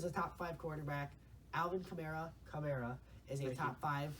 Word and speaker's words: Kamara: people say it wrong it's not tomorrow it's chimera cut there oh thank